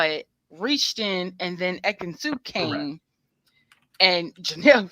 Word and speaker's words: Ekin-Su: And then, I'm sorry, how do you pronounce her name? Ekin-Su.